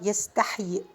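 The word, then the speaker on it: يستحيي: I mean, if it is yastahyi, you should stop yastahyi. Yastahyi. You just pronounce one of them because this is the written one. The other one is dropped, so we are not pronouncing it while stopping.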